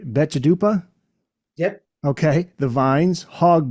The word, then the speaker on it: Betchadupa: Drive Phantom Planet let me see if I pronounce this right betchadupa yep okay the vines hog boy those are